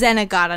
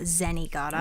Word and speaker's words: Zenigata: he zag yeah sorry I think it's zenaga not zenigata yeah zenaga whenever he